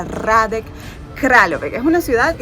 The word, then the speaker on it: Hradec Králové: Se pronuncia Hradec Králové, que es una ciudad que está más o